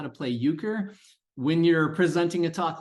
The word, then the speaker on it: Euchre: So that is how it's pronounced, at least in the Midwest of the United States, Euchre.